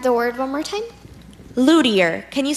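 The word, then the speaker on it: luthier: deer can have the word one more time Lou dear Lou dear Lou dear Lou dear can I have the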